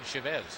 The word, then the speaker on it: Chavez: eric chavez as well most people say come on it's supposed to be chavez and then you actually go talk to eric and he says well you know growing up we always said chevez that's kind of what i prefer so we attempt to